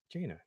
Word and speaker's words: Jaina: Is that how you pronounce that? Jaina. Yeah, just like Jaina.